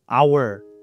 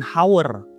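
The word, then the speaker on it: hour: Nah, bacanya our bukan how yang berarti harus menggunakan artikel. Walaupun memang huruf pertamanya H yaitu huruf konsonan.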